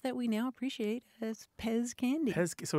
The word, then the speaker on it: PEZ: last letter Z and in German that's pronounced pets mhm but in English we pronounce it Pez Pez I see it